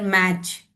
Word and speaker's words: match: you can see here, match, match. So your T is silent and the ch sound is coming. So this TCH is a trigraph.